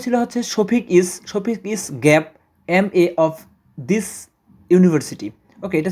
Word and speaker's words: MA: তো এখানে মূলত আমরা বসাবো হচ্ছে এন, অর্থাৎ যেহেতু এমটার উচ্চারণ হচ্ছে ভাওয়েলের মতো, MA এই সংক্ষিপ্ত অ্যাব্রিভিয়েশনের উচ্চারণ ভাওয়েলের মতো, অর্থাৎ এ আসে উচ্চারণের ক্ষেত্রে ভাওয়েলের মতো উচ্চারণ, তাই এন বসবে।